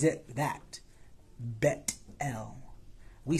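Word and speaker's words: Bethel: dream sound it sounds stupid but the proper pronunciation is so it's not Beth L it's bet l and that's what he names this place the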